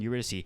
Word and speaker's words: Eurydice: be like the the tale of orpheus and eurydice and i said it right this time i